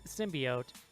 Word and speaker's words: symbiote: in case somebody out there was curious its symbiote and that's it and there's no other pronunciations I always pronounced it symbiosis re you're